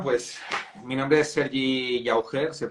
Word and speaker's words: Llauger: Bueno, pues mi nombre es Sergi Llauger, se pronuncia un poco raro en castellano, mucha gente no sabe cómo pronunciarlo muy bien, pero es Llauger, castellano.